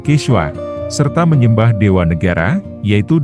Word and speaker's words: Quichua: ditaklukan menggunakan bahasa nasional quichua diucapkan kiswa serta menyembah dewa negara